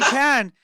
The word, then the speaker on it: Cannes: If anyone's in Cannes, this is how I remember how to pronounce it, like a can of corn. Yeah, it's like can't.